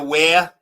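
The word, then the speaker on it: Ware: Um, and uh, where now uh, now you see that town right there? Where? W A R E. The way you pronounce it phonetically is wh you say where.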